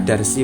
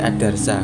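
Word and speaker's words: الدَّرْسَ: Harokatnya itu tidak ke bawah, tidak garisnya itu gak kasroh gitu, enggak bukan bacanya bukan ad-darsi, bukan, tapi ad-darsa, enggak ada ad-darsi, ad-darsa gitu.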